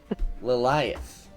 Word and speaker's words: Liath: oh there we go liath yes Ry it rhymes with Goliath that's right all right